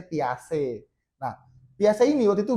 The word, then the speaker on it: Piaget: Nah, Piase itu adalah salah satu tokoh psikologi sebenarnya namanya Piaget. Bacanya Piase.